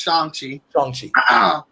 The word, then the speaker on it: Shang-Chi: So Shang-Chi, which is it's pronounced Shang-Chi.